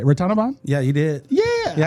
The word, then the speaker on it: Ratanavanh: Ratanavanh?